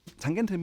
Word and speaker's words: Tangente: Yes, I'm German, so I pronounce it correctly. Tangente means tangent in English,